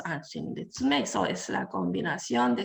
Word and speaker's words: Anshin Ritsumei: So that means it's the combination of Anshin and Ritsumei, and it's pronounced Anshin Ritsumei.